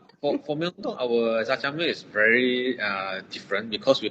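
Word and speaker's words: 짜장면: Jajangmyeon. Tak betul kan? Betul. Correct. She pronounced it very, very well.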